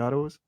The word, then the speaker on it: Piatos: Is that how you pronounce Yeah, it? yeah. Piatos.